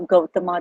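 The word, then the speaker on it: Gautama: we pass was originated gut the Buddha the way I'm saying it may sound a little bit different to some of you but this is the way it is pronounced in India Buddha Buddha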